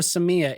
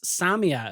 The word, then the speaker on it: Samia: But, um, her name, well, it's, sorry, I was calling her a Samya. It's Samia apparently is how you pronounce it.